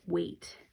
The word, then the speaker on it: weight: you can also make weight wages how much something does way okay so you can see that the e I is saying the a sound and the gh is silent wa8 okay about this